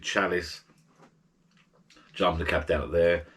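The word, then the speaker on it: Çalış: got a fixed menu it's called ca callus c-a-l-i-s but i think you pronounce it chalice jump the cap down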